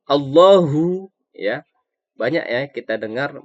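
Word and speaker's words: اللهُ: disini temen-temen perhatikan Allah mengucapkan Allah ini harus tebal pengucapannya allohu Mudin 4 adalah seolah ini terdapat huruf ha ha besar ya jadi letaknya di pangkal tenggorokan gue ya beda sama how how ucapannya harus allohu allohu ya banyak ya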